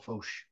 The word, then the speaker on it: Foch: Marisol Foch.